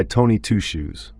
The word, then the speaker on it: Tony Two Shoes: but he went by Tony Two Shoes pronounced like it was all his first name I had on waiting